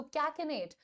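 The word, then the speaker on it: cachinnate: तो इस बुरी आदत को अंग्रेजी में हम कहते हैं टू कैकनेट। स्पेलिंग देखिएगा।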